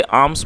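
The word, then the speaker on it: alms: भिक्षा दो और दोस्तों ए एल एम एस आप इसको नोट कर सकते हैं इसे आर्म्स पढ़ा जाता है क्योंकि इसमें एल जो है वह साइलेंट है और आर्म्स का मतलब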